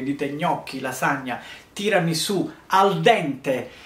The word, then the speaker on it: al dente: Quindi, se voi andate anche a Hong Kong e dite gnocchi, lasagna, tirami su al dente, i giapponesi lo pronunciano ardende, ardende, non sanno che cosa significa.